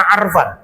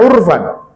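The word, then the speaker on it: عرفان: orang Mesir pakai kata arfan. Pasti mereka menggunakan kata fu'lan dengan dhammah di atas fa'fi'il, maka dibacanya urfan. Dan memang kita membaca dari banyak literatur kitab, tidak ada yang baca arfan, bacanya urfan.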